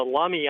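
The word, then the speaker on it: Lummi: high school in Bellingham Washington and there's a lumy island I was figuring maybe you go take over lumy Island claim ownership where's lumy Island at check it out it's off the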